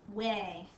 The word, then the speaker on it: weigh: them at the store way and it's spelled like this w e i g h all of the words in this video will have the EI sound and this one's got that tricky H GH sound again that we just